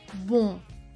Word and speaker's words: bon: En el ejemplo de bon, es una O nasal, bon.